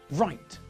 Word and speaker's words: write: And in the same way, we don't pronounce the silent W in these words either. Rap, write, wrestle, wrist.